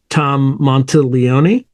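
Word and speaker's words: Tom Monteleone: the negative attention welcome back I'm here with Tom monel Leon Tom welcome Hey man thank you and you pronounced my name right beautiful I had to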